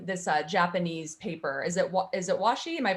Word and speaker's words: washi: Is it washi? Am I pronouncing that right?